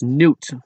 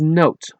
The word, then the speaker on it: Noot: This is why so many English people speaking countries pronounce my name as noot or not but it should be pronounced as note like a music note.